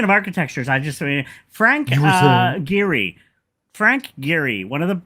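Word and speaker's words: Gehry: Um, speaking of architectures, I just Frank Giri.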